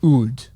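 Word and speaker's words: Houde: So I'm hoping I'm pronouncing that Oud. Is it a chimpanzee? What is going on? H-O-U-D-E. Oud. Yeah, Oud.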